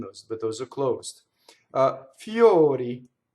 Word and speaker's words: fiori: Now, O before R in English usually always opens, right? Door. And notice the harmonization. The R is bleeding into that vowel, something fierce. So this you have to think fio, right? O, fiori, fiori, flowers, fiori, right? Notice the semi-vowel before the O, and then the other ones are an actual vowel, right?